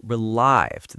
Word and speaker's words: relieved: It's not relieved, but relived. The stress is on the second syllable.